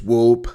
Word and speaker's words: whoop: What is whoop? Yeah, that's why. That's how I learned that word. Whoop. I know what it meant, but pronouncing it, I mean, it looks like it says hoop, but it's whoop.